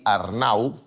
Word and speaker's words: Arnau: Per exemple, el nom propi Arnau té un diftong. Ar-nau. La A i la U són dues vocals que estan juntes i es pronuncien en una mateixa síl·laba.